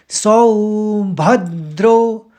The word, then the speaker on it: सौभद्र: तो अब पहले वाले शब्द को देखिए उसको आपको ढंग से समझाना पड़ेगा। तो पहले शब्द को किस तरह से उच्चारित करेंगे? सो भद्रो तो द शब्द है तो द का ही आघात आएगा। इस चीज को समझिए तो हमने सोभद फिर द्रो पढ़ा सौ भद्रो एक साथ ही पढ़ लेंगे तो एकदम सुनाई नहीं